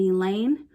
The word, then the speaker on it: Elaine: class or any class and Elaine rhymes with pain Dan teachables have been removed from the student body and isolated in room 117 their teacher mr.